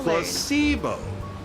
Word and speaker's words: placebo: vocabulary I'm ready to Placebo the stress is on the middle syllable placebo oh okay thank you